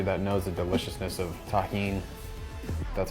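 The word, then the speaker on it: Tajín: out to everybody that knows the deliciousness of Tajin that's how you pronounce this it's delicious with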